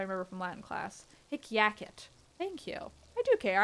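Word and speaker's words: hic jacet: I don't care, but at the start of a word before a vowel is a consonant, so it's pronounced like a Y.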